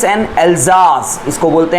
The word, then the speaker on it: Alsace: और ये जो आपको एल्सास दिख रहा है, ये सास नहीं है, जाज है, जेड आए, मतलब प्रोनाउंसिएशन में जेड आता है इसके.